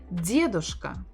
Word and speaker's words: дедушка: Дед or или дедушка, дедушка, дедушка, дедушка, дедушка. Stress on the first syllable.